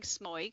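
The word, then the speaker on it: smøyg: will stop and say i'm saying smoig and that's just because i'm australian the correct way to say it so it's it's s m o with a slash through it y g so the o with the slash through is an er sound and then you've got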